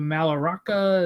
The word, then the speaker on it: Mallorca: Hoppy is going to Mallorca. Is that how you say it? Mallorca? Yeah, Mallorca. Maybe Mallorca. Mallorca, sorry. Mallorca, because they Mallorca. Don't pronounce the You're L's, right? It's not the L.